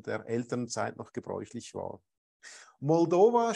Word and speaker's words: Moldova: Elternzeit noch gebräuchlich war Moldova schließlich mit der Betonung auf der zweiten Silbe das wird im Deutschen oft falsch gemacht mullover ist der rumänische